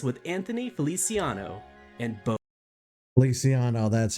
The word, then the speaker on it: Feliciano: This detailed recollection from an adventure nearly a decade ago begins with Anthony Feliciano and Bo Feliciano, that's how you pronounce his name.